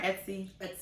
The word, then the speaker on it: Etsy: Etsy.